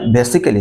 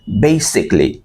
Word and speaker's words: basically: যেমন বেসিক্যালি, আসলে এটা বেসিক্যালি না, এটাকে বলতে হবে বেসিকলি।